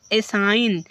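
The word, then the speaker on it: assign: एन के पहले जी है इसलिए जी को साइलेंट कर दिया गया और इस प्रकार रेन रेन मींस ढोंग रचना एसाइन क्या एसाइन देखो एन के पहले जी है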